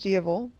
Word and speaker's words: Diaval: No, Maleficent has wings, she has horns, and she has Diavel, or as it's spelled, Diablo, but I swear she says Diavel in the movie.